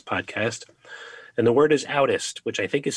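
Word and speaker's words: audist: and the word is outest which i think is spelled a-u-d-i-s-t right would you mind sharing what that is what that means and yep so the term is pronounced oddest and essentially what it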